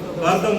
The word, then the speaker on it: कर्दम: वो कदम मुनि। कौन? मुनि? कर्दम मुनि, थोड़ा प्रोनाउंसिएशन है, कर्दम मुनि को दिए।